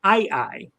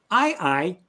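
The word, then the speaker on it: aye-aye: but there's a very different animal called an II it's spelled a ye a Yee and if you've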